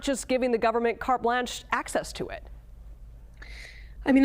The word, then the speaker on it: carte blanche: If you're going to use phrases like carte blanche, then you should learn to pronounce them, not carte blanche.